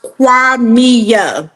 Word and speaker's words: Qimmah: this right yes so the name is actually pronounced quami Quia okay Quia yes